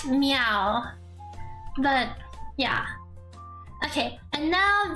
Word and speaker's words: Miao: do back Dodges next me meow although it's pronounced like cat meow but yeah okay and